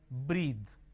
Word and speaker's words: breath: bath the this rhythm breathe so h b-r-e-a-t-h-e is breathe b r e a t h is breath breathe is a